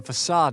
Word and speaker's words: façade: Who do you think ensured that the facade and the outer gardens kept well and proper? You entered at your own risk. He's got a point. Also, it's facade. Haha, I have been pronouncing it right.